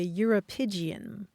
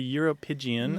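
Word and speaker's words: uropygium: scientific term for it pleas it's called the europian the europian I think I hear similarities to calapan in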